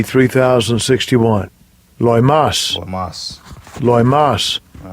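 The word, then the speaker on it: λοιμός: Let's see how they pronounce it. Strong's G 3061. Loimas.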